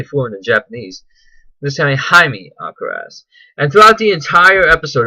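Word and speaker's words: Jaime Alcaraz: When they even introduce themselves, even he says, instead of like Jaime Alacraz, which is what the American way of saying it is, we end up going in more of a favor of a Japanese pronunciation.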